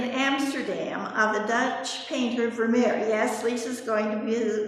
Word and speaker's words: Vermeer: Vermeer, how do you pronounce it? Is it Vermeer?